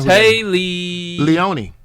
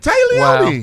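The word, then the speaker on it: Téa Leoni: Oh, Tay Leone. Wow. It's actually not spelled like that. It's Tae. Yeah. Yeah. It's weird. Yeah. Close. Mom spelled it different. Yeah. Tay Leone.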